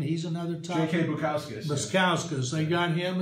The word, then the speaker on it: Bukauskas: Jay Barasukas, or however you pronounce his name. He's another type. J.K. Bukauskas.